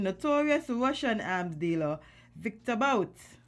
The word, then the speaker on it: Bout: the U.S., releasing notorious Russian arms dealer Victor Bout. Boot. Oh, sorry. Because I don't want to pronounce this man's name, man.